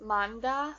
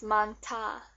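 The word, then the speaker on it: 많다: into a t sound you would think that it would be just Manda but that's not right it's Manta because this H makes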